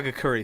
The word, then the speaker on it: Hagakure: I printed out you the I hope I pronounce it right it's the Agera correct is that a you say huh hagakure sorry hagakure you guerra nice it again pokery